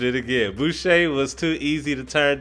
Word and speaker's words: Boucher: lot he's also he also plays starter minutes voucher boucher boucher i butchered it again boucher was too easy to turn down as good